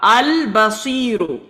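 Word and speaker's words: البصير: Look at the lam. Lam is sakin. So here we will pronounce the sound of lam. Al-Basiru.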